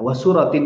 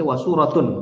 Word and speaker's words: wasuratin: Nah, wa suratin di sini Jangan sampai dibaca wasuratun. Kalau wasuratun berarti disunahkan baca surat. Tapi dibacanya wasuratin, ya, wasuratin. Berarti ma'tufnya ke iftitahin, ya.